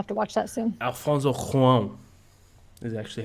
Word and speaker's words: Alfonso Cuarón: Alfonso Cuarón is actually how you pronounce it.